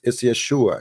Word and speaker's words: Yeshua: No, it's not Yeshua. Actually, it's Yeshua. You see, because you cannot pronounce it Da'in, so they say Yeshua, Yeshua. But it is Yeshua.